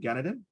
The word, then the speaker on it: Ganaden: let me unmute representative ganadin there you go rip okay my name is sunny ganadin if you pronounce it the kilikano way um i had an